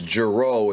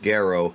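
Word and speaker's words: Gero: so basically dr guerrero known as giro in the dub but it's properly pronounced garrow he his wife was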